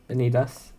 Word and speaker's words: Vanitas: Vanitas.